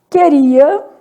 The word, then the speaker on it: queria: Queria, separa assim, né? Esse U é nulo, então vou começar tendo quantas letras? 6 letras, 5 fonemas, um dígrafo consonantal. Esse dígrafo consonantal formado por QU igual a Q.